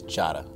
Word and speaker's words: Diarra: say the last name, but the last name pronounced the right way is Jara. And in the windmill slam by Cartier Diarra.